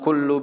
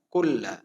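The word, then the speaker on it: كُلَّ: Biasanya dia mengucapkannya fa inna kullu bid'atin. Fa inna kullu, padahal harusnya fa inna kulla.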